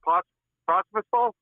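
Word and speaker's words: Pospíšil: Pospisil? How do you say the kid's name? Martin From Calgary. Pospisil, yeah. Nailed it.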